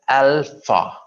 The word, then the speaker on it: alpha: Okay, A as in alpha. Alpha. There are two syllables, al and fa. Okay, just speak behind me. A as in alpha. It's not al, a.